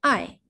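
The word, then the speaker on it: 爱: 이번에는 중국어 발음으로 읽어볼게요. 사랑하다 라는 동사의 의미, 아이.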